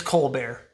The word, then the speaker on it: Colbert: the real funny guy is it co-bear or colbert it's cold bear cola yeah i was saying it wrong steven cold bear yeah